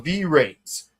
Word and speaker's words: VRAINS: V-Rains. Don't watch it. It's pronounced Vrains, though.